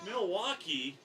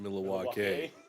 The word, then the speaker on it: Milwaukee: of people this guy Milwaukee loser it's actually pronounced miluk the Indians Jet Sweep has